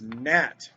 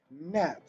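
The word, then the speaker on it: gnat: wrong right wrong and this is nat it's a gn at the beginning you don't see that very often and you don't really hear the g you just hear the n nat and sign and this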